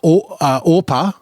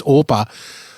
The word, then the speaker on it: Orpah: So then we're introduced to the Moabite wives, Orpah and Ruth. Now, if I accidentally mispronounce her as Oprah at some point, this is how deep of a dive.